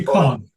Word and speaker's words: Tychon: It's Tychon, and as I said, it's a Greek word that means hit the mark.